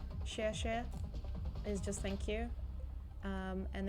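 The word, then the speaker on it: 谢: try and remember, like, I think X is like a sh sound, so like share is thank you, but it's XIE, share is just thank you.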